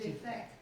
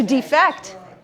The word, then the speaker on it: defect: defect defect exactly so what happens if you put the emphasis here which word is it defect and something right like a flaw and then if we move the emphasis over here to defect to leave your country right okay so